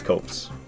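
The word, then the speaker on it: Copse: we're heading to huntsman's Cops copes I never remember the pronunciation people have told me before I think it's copes I always forget the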